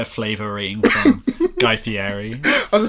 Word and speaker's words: Fieri: It's a Guy Fieri. It's like Italian.